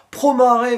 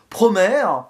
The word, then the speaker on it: Promare: Ah, ce film c'est, alors il y a deux prononciations, on va dire, divergentes, soit Promare ou Promare, film Voilà, d'animation en français.